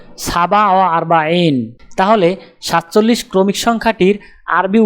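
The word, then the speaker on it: سبعة وأربعون: উচ্চারণ হবে সাবা ওয়া আরবাইন।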